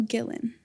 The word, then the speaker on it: Gillen: This week's guest is Gillan.